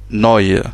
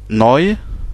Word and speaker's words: neu: On a le E et le U, à côté, ça se prononce oi, comme dans le mot neu, qui veut dire nouveau, ou new en anglais. Donc neu, voilà, le E à